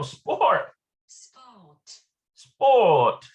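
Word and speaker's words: ספורט: um support oh sport sport that's how it's pronounced in hebrew that's just a transliteration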